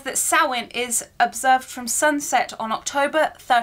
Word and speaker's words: Samhain: It says Samhain, and it is pronounced Samhain. It doesn't look like it is, but this is a holiday.